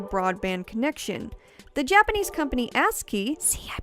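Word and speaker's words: ASCII: online with a broadband connection the Japanese company ask key see I pronounced it correctly this time guys even created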